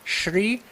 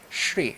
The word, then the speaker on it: Shri: It's It's very easy to pronounce. Shri. Shri.